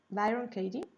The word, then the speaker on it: Byron Katie: Caty no sé decirlo bien en inglés Katy se escribe K t i e Byron Katie y en la cual nos hace una serie